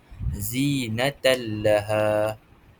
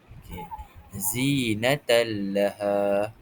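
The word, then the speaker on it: زِينَةً لَهَا: Seperti yang saya terangkan tadi cara bacaannya ialah menggabungkan suara nun ke dalam huruf selepasnya tanpa didengungkan. Jadi cara bacaan yang betul ialah zinatan laha. Zinatan laha.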